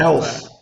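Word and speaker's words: Kelce: Like Tyrod Taylor or Travis Kelsey's actually. How is his name pronounced? Kels. Yeah, Kels.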